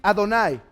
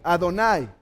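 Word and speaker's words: אדני: Esta es una Holem, es un AO, y esta es una A y una I, Adonai.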